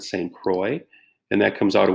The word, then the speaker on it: Saint Croix: the saint croix river it looks like saint crikes when you spell it but you pronounce it saint croix and that comes out